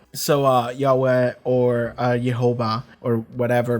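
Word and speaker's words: Yhwach: And the reply was, you're supposed to pronounce it like you would the name of God. So Yahweh or Jehovah or whatever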